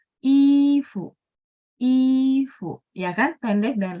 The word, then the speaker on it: 衣服: 衣服, fu-nya nada 5 teman-teman ya. Tidak ada tanda nada, jadi bacanya pendek dan ringan. Dia dipengaruhi sama si i. Ifu.